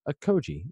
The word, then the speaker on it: Okogie: It's just Josh Okogie.